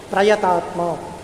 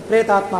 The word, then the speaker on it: ಪ್ರಯತಾತ್ಮ: ಅವನನ್ನ ಪ್ರಯತಾತ್ಮ ಅಂತ ಕರೀತಾರೆ ಪ್ರಯತಾತ್ಮ ನಾವು ಶಬ್ದವನ್ನು ಉಚ್ಚಾರಣೆ ಮಾಡುವಾಗ ಒಂದು ಸ್ವಲ್ಪ ವ್ಯತ್ಯಾಸ ಆದರೂ ಅದು ಪ್ರೇತಾತ್ಮ ಅಂತ ಹಾಗಾಗಿ ಪ್ರಯತಾತ್ಮ ಯಾರ ಅಂತಃಕರಣ ಅತ್ಯಂತ ಶುದ್ಧವಾಗಿದೆಯೋ